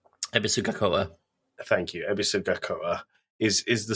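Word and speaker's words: Ebisugaoka: of the town is called, and I'm going to butcher the pronunciation of this, Ebisgakoa. Ebisugakoa.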